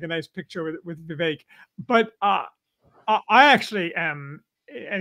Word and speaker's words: Vivek: Well, it's, I learned the other day it's Vivek. Vivek, say it like cake.